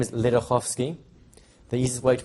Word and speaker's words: Ledochowski: learned the name is lovsky the easiest way to pronounce it is if you take the C out in the middle and change the W for an F that will phonetically work